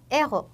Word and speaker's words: héros: 여기서는 연음을 하지만 héro라는 단어는 영웅이란 단어인데 바로 유음 아쉬로 시작하는 단어예요. 그렇기 때문에 c'est un héros 이렇게 끊어서 발음해 주셔야 합니다.